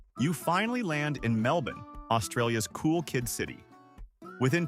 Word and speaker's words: Melbourne: It's Melbourne, not Melbourne or Melbourne. Australians have a habit of swallowing syllables, and nothing outs you as a tourist faster than adding the "born."